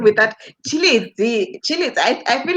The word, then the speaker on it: Tshilidzi: I pronounce your name without your name without Tshilidzi? Tshilidzi. I feel like I need to be vendor with this one. Yeah, no, Hi, definitely. Tshilidzi. Yeah, no, it's Tshilidzi. Um, Tshilidzi. yeah, the Oh, surname. that's Tshilidzi.